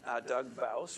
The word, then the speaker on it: Bouws: Doug Bouws, rhymes with house.